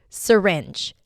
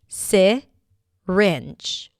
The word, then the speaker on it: syringe: Syringe. Syringe. Or the first syllable can be reduced and pronounced as syringe.